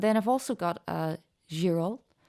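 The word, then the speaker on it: Girault: And then I've also got a girol. I'm presuming you don't pronounce the T at the end of that brand.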